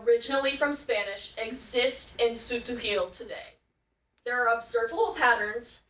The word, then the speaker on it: Tz'utujil: How do you pronounce Tz'utujil? Tz'utujil. Tz'utujil.